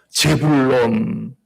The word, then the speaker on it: 스불론: 스블론에 보면 제베드, 자바드, 자발요 세 가지 단어가 합쳐서 재불론. 예. 우린 스불론하지만 원래 발음대로면 재불론입니다. 재불론. 예.